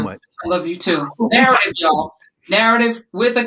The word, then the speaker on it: Knarrative: Narrative, y'all. Narrative with a K. The K is silent like knowledge.